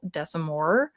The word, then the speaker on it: Desamore: It's called They Call Her Regret by Chanel Desamore. I think the S is silent at the end.